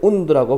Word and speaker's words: wound: from a large wound, 큰, 발음할 때 wound라고 발음하고, 부상입니다.